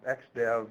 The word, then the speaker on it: XDF: works and that is something which we call the xdf pronounced xdev or the scan Works